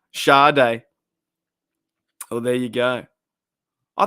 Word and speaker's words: Sade: a bloke wait so so how do you pronounce her name shade Shaw day oh there you go